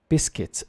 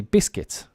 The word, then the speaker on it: biscuits: biscuits pronunciation here guys biscuits it's almost like b-i-s-k-i-t uh the spelling is the French spelling which would be bisqui but we say biscuits because we pronounce it